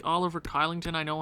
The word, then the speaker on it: Kylington: So, I think the best option right now is a cheap Oliver Kylington. Shillington. I think that's how they say it.